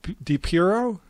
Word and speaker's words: Depierro: It's Depierro. Depierro? Did I say it right, Gene? Okay, yep, so Depierro.